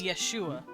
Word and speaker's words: Yeshua: I can't remember how you pronounce his name. I just call him Jesus. Yeshua.